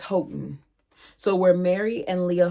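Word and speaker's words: Houghton: Is it Hon? Alexa, how do you pronounce H O U G? H T O N. There she goes. Not working again, y'all. Hold on. Okay. According to Alexa, it's H Hotton.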